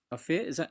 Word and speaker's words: Ophir: So, just to let everyone know, Ophir, am I pronouncing your name right? Please tell me if I'm Yeah, that's right.